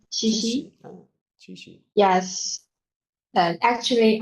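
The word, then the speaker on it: 七夕: Chishi.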